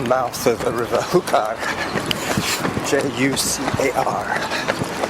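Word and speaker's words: Júcar: Jucar. J's are pronounced like H's.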